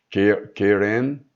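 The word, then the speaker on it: קרן: strong 07161 e que pode ser pronunciada como keren.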